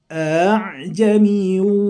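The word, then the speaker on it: أأعجمي: Nah, ini tulisannya, tapi membacanya harus tashil, yaitu meringankan bacaan hamzah yang kedua. Bacanya seperti gini. A'jami wa arabi.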